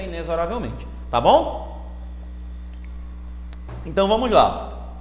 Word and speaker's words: inexoravelmente: é sintaxe Tá certo assim como inesoravelmente eu sei que na música fala-se Inexoravelmente mas o correto da pronúncia inesorariamente tá bom Então vamos